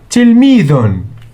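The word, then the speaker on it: تلميذ: T, so we put kasra under T. L with sukun. Mi dhun. Tilmidhun.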